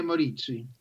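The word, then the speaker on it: Maurizi: in another important story here uh stefania moriz morizzi right something like that help me out say it right for me stefania moritzi okay yeah so i can't even say anyway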